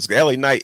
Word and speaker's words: LA Knight: said coming from whatever La night and then he goes basically let me tell you how to say the name l a night yeah so he wanted